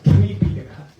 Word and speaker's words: Tipitaka: That's a part of Sayutta Nikaya, triple canon, Tipitaka, and Pali. We don't pronounce Tripitaka. If you pronounce Tripitaka, it is like Sanskrit.